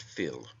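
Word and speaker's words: fuil: word is taken from the Irish word Phil fui l pronounced Phil meaning blood it also signifies a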